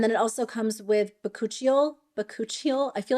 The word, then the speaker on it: bakuchiol: And then it also comes with bakuchiol.